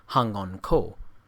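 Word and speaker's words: 反魂香: It was called Fuan Huan Xiang, by Japanese pronunciation Hangon Ko, or spirit recalling incense, and it was made in Tsochao, or the district of the ancestors, situated by the Eastern Sea.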